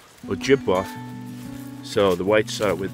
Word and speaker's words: Ojibwe: the land of the ojibwe and uh their story is kind of interesting they the white man calls him chippewa and they call him that because the it's actually pronounced ojibwa so the whites are